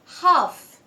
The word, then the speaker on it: half: So half. Could. Should. Calf. The silent letter is N.